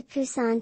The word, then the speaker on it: Busan: I'm going to Busan tomorrow. I'm going to Busan tomorrow. I'm going to Busan tomorrow. 첫 음절에 강세를 두세요. Put the stress on the first syllable.